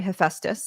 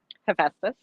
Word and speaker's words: Hephaestus: tell us, is essentially more forced to marry Hephaestus. That's how I pronounce it. But how do you pronounce it? Hephaestus.